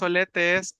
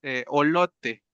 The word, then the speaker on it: olote: Tenemos olete, no es olete, eh, es olote.